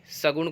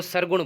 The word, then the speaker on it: सगुण: कुछ विद्यार्थी सगुण को सरगुण बोलते हैं, तो वो आपका उच्चारण गलत हो जाएगा।